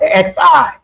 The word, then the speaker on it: Xi: Mayans are called the shei people. Uh xi it's xi but it's pronounced she xi.